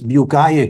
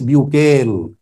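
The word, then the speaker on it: Bucaille: کا نام تھا مورس، فرینچ لینگویج میں مورس بیوکائے کہتے ہیں، مگر انگلش میں آسانی کے لیے نام لوں گا مورس بیوکیل۔ انگلش میں اس کا تلفظ بنتا ہے مورس، ڈاکٹر مورس بیوکیل، جس کی تصویر اس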